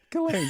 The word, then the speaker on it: Ghislaine: Ghislaine, yes.